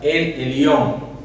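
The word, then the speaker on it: אל עליון: Vemos también que ella expresó siervos del Dios Altísimo, que en hebreo quiere decir, se pronuncia el Elión, que esto significa el Dios absoluto, el Dios soberano, el soberano Dios.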